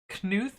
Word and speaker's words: Knuth: plus anyway i think knuth is pronounced with a hard k really i have no